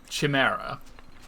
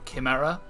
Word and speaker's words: chimera: my tonics sounds good so you've been saying chimera where the the the generally accepted pronunciation because it comes from greek is uh chimera or kimera or kimira so the fact